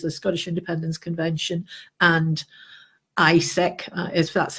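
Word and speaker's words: ICEC: together which is the Scottish independence convention and ISC as that's how we're pronouncing it the international commission for European citizens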